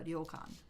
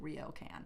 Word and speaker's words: ryokan: which is called a ryokan. It's very hard to pronounce because it's R-Y-O, and you have to roll the R. Otherwise, it sounds like ryokan, and that's just, no, we can't do that.